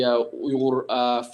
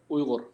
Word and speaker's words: Uyghur: their senators, their congressmen, urge them to recognize the atrocities as a genocide, urge them to pass the Uyghur Forced Labor Prevention Act, and of course, show solidarity to our cause, spread awareness about the situation, and hope that the U.S.